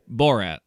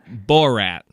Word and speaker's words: Borat: bow rap movie yeah how do you say it borat like bow rat i wanna i wanna be very clear i'm not like laughing at your pronunciation i'm just laughing out you keep doing it the same way it's just trying to i'm trying to hear how you're saying it bull rat no rat that's better it's just the first